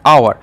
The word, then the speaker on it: hour: আর এটা জানি আমরা কি ফাউল, যেমন আমরা কি জানি আওয়ার, HOUR, এটা কিন্তু হাওয়ার নয়, আওয়ার।